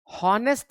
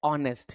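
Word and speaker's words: honest: इसको पढ़ने का तरीका हॉनेस्ट नहीं है। इसको हम हॉनेस्ट नहीं पढ़ते हैं। इसको पढ़ा जाता है ऑनेस्ट। यहां पर एच साइलेंट रहता है।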